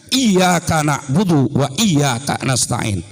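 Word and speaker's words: إِيَّاكَ نَعْبُدُ وَإِيَّاكَ نَسْتَعِينُ: Jadi jangan sembarangan bacanya iyyaka na'budu wa iyyaka nasta'in. Harus ada tasdidnya, dibunyikan iyyaka na'budu wa iyyaka nasta'in.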